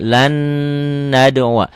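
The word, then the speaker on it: لَن نَّدْعُوَا: Lan nad'uwa. Di Quran cetakan Indonesia di sini setelah nun mati ketemu huruf nun bertasdid. Jadi huruf matinya jangan dibaca, masuk ke sini lan nad'uwa.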